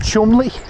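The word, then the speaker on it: Cholmondeley: it's spelled CH Mund CH Mund and it's pronounced Chumley I find it annoying I just find it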